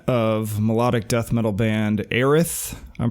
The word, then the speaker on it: Aerith: All right, so I'm here with Aaron Green of melodic death metal band Aerith. I'm pronouncing that correct, right?